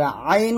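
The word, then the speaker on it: ع: আর আইন উচ্চারণ করতে হবে গলার মাঝখান থেকে চাপ দিয়ে।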